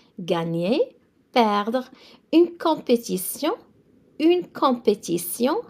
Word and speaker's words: compétition: une compétition. So T-I-O-N in French, always it's a sion sound. It means a competition. Gagner, perdre, une compétition.